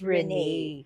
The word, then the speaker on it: Renee: So, Congressman Rene ba? Rene. Yes, Ang tama. Renee. Kahit Okay. walang accent, pero It's pronounced Renee.